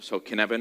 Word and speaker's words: Cynefin: aware of it so can Evan it's not pronounced in Evans brown-skinned Evan that's kind of the first test it's like when my colleagues said it's like Kevin with a sneeze that's a bit funny